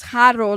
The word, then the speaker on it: Haro: He said, it gives me a release that you pronounce Haro like when you're reading the article because I always feel I don't care, BJ. I had somebody tell me that I need to, what do they say? Bubbles? Okay, honey. They said that I'm rolling my R's like I'm pronouncing it like I'm Mexican.